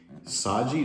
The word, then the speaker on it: Saiji: I have with me the sji that's how I'm saying it it's spelled s a i ji it's this Goose phone